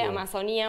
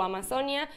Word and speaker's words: Amazonía: dicen de una manera está bien dicho de las dos formas porque se dice amazonía en realidad según la real academia española se puede decir con la pronunciada con la tilde o sin la tilde amazonía o amazon ya